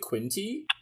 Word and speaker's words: Quinte: You are a graduate of is that how I pronounce it? Quinte Ballet School. Quinte Ballet School yes, in Belleville, Ontario.